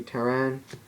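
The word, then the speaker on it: Pteran: Next we play 3 Terran. The P is silent.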